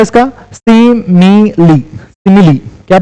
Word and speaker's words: simile: Pronunciation होता है इसका सिमिली, सिमिली क्या प्रोनाउंसिएशन होता है इसका? सिमिली। ओके साइमिली और कुछ नहीं बोलेंगे, इसको सिमिली बोलेंगे।